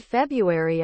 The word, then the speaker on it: February: seconds then drawer in the word February I'm pretty sure I'm supposed to pronounce the first R but I never do laboratory always comes out